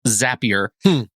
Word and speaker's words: Zapier: i r and it's it is apparently pronounced zappier because zappier makes you happier is what they say